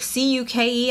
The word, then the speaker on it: cuke: C-U-K-E. I don't know how to pronounce that. Like cuke, like cuke is in cucumber.